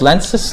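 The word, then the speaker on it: Lenz: uh of lenses law it's lenses not lenses it's lance's law which is a formulated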